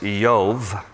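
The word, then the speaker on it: איוב: In Hebrew, his name is pronounced Yov. We would say Job.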